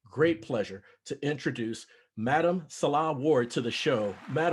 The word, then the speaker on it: Nselaa: or pronounce my name they say insulin but it's salah so thank you for